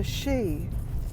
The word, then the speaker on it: Sidhe: Now Sidhe, it's pronounced she, but it's spelt S-I-D-H-E. So anytime you see that word, remember the pronunciation is simply she.